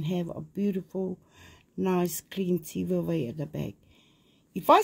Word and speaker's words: Tivaevae: I prefer Tivaevae, the V-A-I, but it doesn't stop them saying what they like.